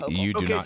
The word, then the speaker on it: Hochul: I'm on the show and I'm telling you how to pronounce it correctly. It's Hokul.